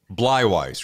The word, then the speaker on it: Bleiweiss: the whole show and screw that up it's bwise right that's exact exactly right thank God my